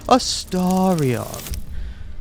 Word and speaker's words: Astarion: So anyway, fun fact, I got to the point in the game where Astarion, I say Astarion because that's how I pronounced it until I've heard him say it, where he goes, Astarion.